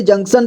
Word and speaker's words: जंक्शन: जंग बाजी जंक्शन जं यहां देखिए इसे जंक्शन पढ़ेंगे ठीक है ज में अं की मात्रा जंग इसके बाद आधा क है इसके बाद श और न जंक्शन जंक्शन ठीक है जंक्शन